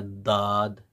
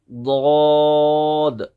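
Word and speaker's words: ض: देखिए यहाँ से आप पढ़ेंगे ऐसे दौद, जब जिसको हम सही से प्रोनाउंस करते हैं तो ना पूरी कंप्लीट दौद की आवाज़ निकलती है ना मुकम्मल जौद की आवाज़ निकलती है, बल्कि इनके बीच में एक खूबसूरत आवाज़ निकलती है। जैसे दौद, अब अगर पढ़ेंगे अद,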